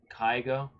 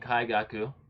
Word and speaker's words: Kaigaku: the trailers, which it showed off Zenitsu versus Kaigo. If I pronounce his name right, hold on, let me see. Yeah, Zenitsu and Kaigaku.